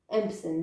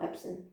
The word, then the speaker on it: Empson: impson and delphi yeah i never know how to pronounce it's empson not epson or whatever instead of commissions for